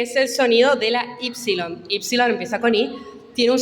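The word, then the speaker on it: ípsilon: Perdón es así y el sonido de ipsilon es de una u francesa Qué significa esto que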